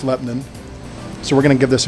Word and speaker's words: Lebanon: It's spelled Lebanon, but it's pronounced Lebanon.